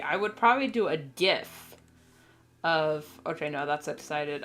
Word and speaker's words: GIF: I don't know and it's pronounced GIF I don't care what anybody says g f GIF graphic uh Imaging uh function or something like that gif if it gif is the peanut butter I should have used the rant thing for that but anyway anyone who says JF is wrong it's like I